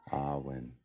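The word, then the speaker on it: Awen: the um that word Alwyn how would you spell that in our language a-w-e-n uh it's it's Gaelic so they pronounce an A and R so it's like R1 Arwen and all when all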